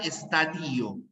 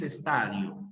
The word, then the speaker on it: estadio: palabra se pronuncia estadio no es existe la palabra estadío como muchos profesores de psicología de historia quizás puedan pronunciar ya no existe la palabra estadio siempre siempre es estadio siempre estadio es el